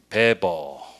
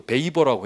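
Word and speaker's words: Weber: 그다음에 이제 독일에는 누구냐면 이제 베버. 이 미국 사람이 이거 발음은 이게 우리는 이제 독일어는 줄 아니까 이 사람이 이제 막스 베버라고 하지만 미국 사람들이 이거 베이버라고 해.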